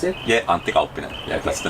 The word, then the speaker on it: Antti Kauppinen: Pronounce it? Yeah, Antti Kauppinen.